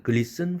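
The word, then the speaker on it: glisten: 단어 글리스튼, 또 패스튼, 글리스튼이 아니라 글리슨, 패슨이죠. 소프튼이 아니라 소픈, 헤이스튼이 아니라 헤이슨, 자음 철자가 그 은 앞에 있는 이라는 철자는 무조건 여기서 발음 탈락입니다. silent letter입니다.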